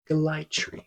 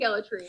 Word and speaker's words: Gellatry: How to pronounce Sam? Gellatry. Everyone, please give it up to Sam motherfucking Gellatry.